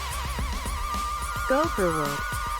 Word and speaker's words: gopher: I need to know how this is pronounced. Gopher.